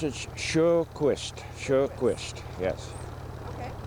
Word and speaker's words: Sjoquist: My last name is spelled S-J-O-Q-U-I-S-T. And how do you pronounce it? I pronounce it Sjoquist.